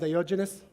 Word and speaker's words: Diogenes: diogenes diogenes diogenes diogenes diogenes how you pronounce it diogenes is there any other way to pronounce it it's already complicated that's exactly how you pronounce it i think for a change i didn't get it wrong so so in spanish